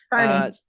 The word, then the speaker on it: Kearney: A lot But of people mispronounce. Yep. it's Kearney. Carney.